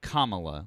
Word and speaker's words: Kamala: So if you can't say her name properly, you can No, Kamala. Like Kamala.